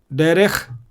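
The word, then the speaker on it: דרך: Second, the Shwa is silent when it occurs under the last letter. Derech, Melech.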